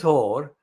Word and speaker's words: Hoare: And I mean, it's not a whore as a prostitute, but the pronunciation is like the whore as in prostitute. This is Hoare for the petitioners, James Laddie QC and Sarah Hannett, instructor by Messrs.